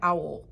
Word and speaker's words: Auel: the Cave Bear by Jean Auel, A-U-E-L. I believe I'm pronouncing it correctly, but I may not be.